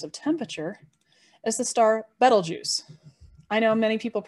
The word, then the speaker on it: Betelgeuse: temperature is the star betelgeuse i know many people mispronounce it as beetlejuice but no notice it only has one e right after the b so like the word bet so bet l so